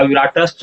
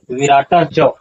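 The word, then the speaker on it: विराटश्च: महसवासा भीमार्जुन समाजधि युधनो विराटस च ऐसा उच्चारण नहीं होगा विराटस च उच्चारण इसका नहीं होगा इसका उच्चारण देखिए इस तरह से होगा विराट जोड़ च मतलब विराट च उच्चारण क्या होगा विराट और क्या होगा?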